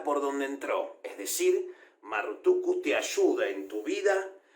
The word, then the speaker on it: Marrutukku: Marrutuku representa muchísimas cosas hasta el día de hoy. Marruk Utu es la pronunciación probablemente antigua del nombre Marduk.